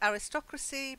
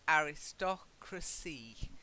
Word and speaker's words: aristocracy: say as I said aristocracy so it can be a little bit you have to just learn those two different pronunciations aristocracy the aristocracy are